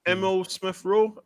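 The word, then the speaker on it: Emile Smith Rowe: Is Emil Smith Rowe? Is that how I pronounce his name right? Smith Rowe, he's brilliant.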